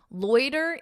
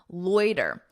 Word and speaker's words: loiter: Loiter is the verb. Notice that pronunciation. Loiter, loiter.